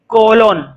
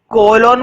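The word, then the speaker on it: colon: ए को लिखो second, कोलोन। कोलोन बोलो या इसको कोलन बोलो, एक ही बात है।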